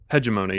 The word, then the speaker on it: hegemony: you say that hegemony hegemony yeah okay like a hedge maze hegemony gotcha so uh your transponder